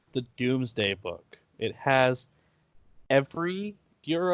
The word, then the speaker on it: Domesday: England comes from the Doomsday Book because that's just how they associated it with yeah you see the name it looks like the Domesday book it's pronounced doomsday so we see it